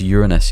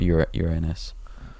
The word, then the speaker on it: Uranus: No, but It's actually hold on. pronounced Uranus, you know, not Uranus.